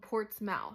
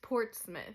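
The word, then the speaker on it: Portsmouth: thing with like wor like Portsmith looks like it's spelled port's mouth literally it's ports mouth but it's Portsmith same we used to live in fouth when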